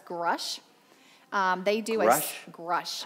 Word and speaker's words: Grush: A Grush. How do you spell that?